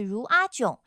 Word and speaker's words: เรือจม: 泰语是若种，发音是如阿囧，若是船的意思，发音是如啊，正是沉的意思，发音是囧，合起来就是如阿囧，船沉了。